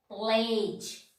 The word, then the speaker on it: pledge: So, D is not pronouncing this word. Cage. Cage means to obtain. Pledge.